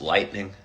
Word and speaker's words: lightening: The sky is lightening. It's hard to say the word lightening. It's an extra syllable than lightning, but it sounds awfully similar. You really got to be purposeful with your syllables.